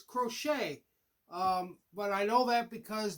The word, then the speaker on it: Crochet: I wasn't sure how to pronounce his name, and I'm not sure if I even got his first name right, but it's Crochet.